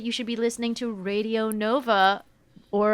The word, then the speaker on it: Radio Nova: I believe that you should be listening to Radio Nova, or as it's pronounced in France, because it is a French radio station, Radio Nova.